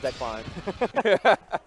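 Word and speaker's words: Dekline: That sounds like Decline. Maybe it is pronounced Decline.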